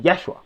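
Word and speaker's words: ישוע: So the name Jesus from Hebrew is pronounced Yeshua.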